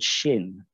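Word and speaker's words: xin: the other one is called shin which is spelled x i n and it means spiritual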